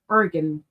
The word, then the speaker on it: Oregon: I really want to say it like oregano, but that would be silly. Oregon.